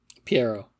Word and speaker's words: Pierrot: I should have looked up how to pronounce this beforehand. Is it Pierrot? Piero.